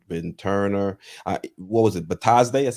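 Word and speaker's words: Bitadze: Batazde?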